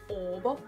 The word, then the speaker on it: Åbo: For example, the Finnish city Turku in Swedish would be Åbo, which is Swedish O-B-O, and it would just be pronounced Åbo.